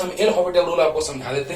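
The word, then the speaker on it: L'Hôpital: तो चलिए थोड़ा सा सिखला ही देते हैं आपको एल हॉपिटल रूल, जिसको एल हॉस्पिटल रूल लोग कहता है, लिख देता है, लेकिन actual pronunciation is एल हॉपिटल rule. लिखाता हॉस्पिटल ही है ना।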